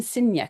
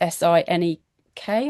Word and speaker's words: Sinek: It's by Simon Sinek. I think it's pronounced Sinek, I believe.